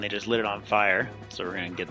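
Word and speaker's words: Fyer: This is Fire, or Fear. Fire is how I pronounce it. F-Y-E-R.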